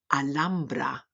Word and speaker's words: Alhambra: Alhambra, alhambra.